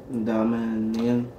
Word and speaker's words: dominion: Four syllables. Dominion. Long O. That first long O is low.